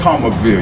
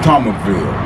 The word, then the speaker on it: Thomasville: here, I call it Thomasville. You gotta drop the S off, the S is silent. But when you really from the Ville, you say Thomasville, you drop that S, the S is silent.